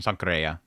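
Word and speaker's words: Sankarea: But the creator of the source material for this particular series is Mitsuru Hattori, the creator of Sankare. Or Sankareya, right? It's technically the pronunciation. Sankareya.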